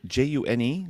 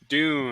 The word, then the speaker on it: Dune: is this a June? June? Dune.